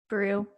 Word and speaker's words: Beru: owen and um uh beru is that her name is pronounced brew they're together in the